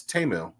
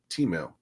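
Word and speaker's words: Temu: and people now know how to um pronounce TAMU which is not Teemu I know you really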